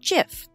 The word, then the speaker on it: GIF: how to add a jiff to your blog post in WordPress although it is spelled with a G it is actually pronounced jiff like the peanut butter gifs have brought us